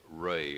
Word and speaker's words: Rey: would you give us your name please and spell it out e ray r-e-y r-e-y all right you see this recorder